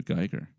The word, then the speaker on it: Giger: with uh Giger yet I don't think we got geeker I think we mentioned him before though we've probably mentioned them but didn't pronounce the geiger I think it's Geiger you're in big